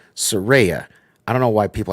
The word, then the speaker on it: Saraya: because right after this because Soraya not Soraya Saraya I don't know why